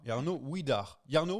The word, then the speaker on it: Jarno Widar: Ah, Jarno Widar. Jarno Widar, Oui. comment on prononce ?